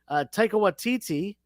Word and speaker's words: Taika Waititi: Taika Waititi, am I pronouncing his name wrong?